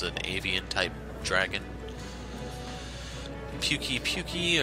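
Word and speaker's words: Pukei-Pukei: Puki-puki, or they actually pronounce this puke-puke, but just be aware, it pukes on you.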